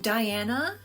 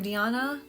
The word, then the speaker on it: Diana: Diana, or Diana, however you want to pronounce that. I've heard people say it both ways.